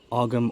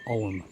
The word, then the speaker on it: Ogham: Some people pronounce the GH, some people don't. So Ogham or Ogham. I like the sound of Ogham stone better, so I'm going to say Ogham stone.